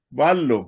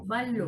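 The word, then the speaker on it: βάλλω: En el griego no Van. tenemos la doble, la Y. Vanlo. Esa se va a leer, hermana, como una Van. L. Vanlo. Vallo, Ballo.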